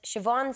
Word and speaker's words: Siobhan: But we have one that says, Siobhan says her name has been mispronounced as Siobhan, which I've seen before. Like Siobhan. They say Siobhan. See, that wouldn't happen in Ireland, though. No, must involve only when you're away. H is a V.